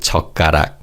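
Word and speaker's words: 젓가락: In terms of pronunciation in fast speech the pim in s and pim in ch are almost silent. So they're said as sukarak and char. So again, sukarak and charak.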